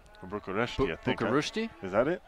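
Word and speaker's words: București: now they've decided that we have to say it by the Romanian name so it's bucharesti bucharesti I thinki is that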